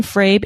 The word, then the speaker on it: Frabe: Jay Frabe, CPA, A in Frabe is long and not short vowel.